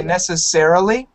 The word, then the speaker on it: necessarily: change the screen are you trying to say necessarily yes necessarily yeah that's a tough one yeah